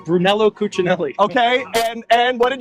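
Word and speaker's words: Brunello Cucinelli: Lou Brun Bruno Brunell what is it it's Brunello Cinelli okay and and what did you ask them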